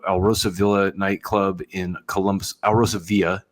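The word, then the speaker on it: Alrosa Villa: Villa nightclub in Columbus Al Rosa Villa if you're pronouncing Spanish correctly greenos Columbus Ohio United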